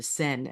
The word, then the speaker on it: Seine: The way they had it laid out, the way they had the athletes on the Seine, or the Seine, actually, it's pronounced.